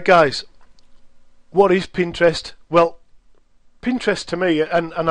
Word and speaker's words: Pinterest: Now, I found out the other day that it actually is Pinterest. The guys who developed it, I was listening to a recording that they'd made, and they were terming it as Pinterest because sometimes you'll hear it pronounced different, like Pinterest, lots and lots of different ways. But the guys, I think it was a week ago, that they said Pinterest, so we'll go with that.